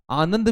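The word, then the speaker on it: आणंद: गुजरात के अंदर एक गांव है जिसका नाम है आनंद, आनंद भी पढ़ते हैं उसको, पर आनंद उसका प्रॉपर प्रोनाउंसिएशन है।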